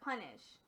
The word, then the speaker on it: punish: consonant, it's usually long, but punish is a strange word where the U is actually, even though it's at the end of the syllable, it is actually a short U, okay? So, that's a strange word, and just remember that in the word punish, the U is short, not long.